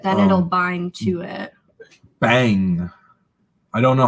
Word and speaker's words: bhang: Bang. I don't know how to pronounce this, but it's BHANG.